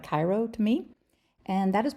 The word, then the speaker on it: Cairo: The town is called Cairo. It's pronounced Cairo. It looks like Cairo to me.